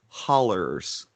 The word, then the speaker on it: hollows: hills and hollers yes the hollows are pronounced hollers uh yeah people will